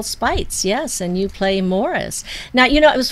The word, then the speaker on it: Maurice: yes and you play Morris now you know it was funny we were talking about this earlier but his name is actually spelled like Maurice but it's pronounced Morris they were British raised